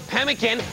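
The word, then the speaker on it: Pemmican: correct Le Nikita upen pen and tell or pemin which is a brand of beef jerky by ConAgra carollyn upen incorrect Ronnie penan I'm sorry I can't take that pronunciation it's pemin which US state is home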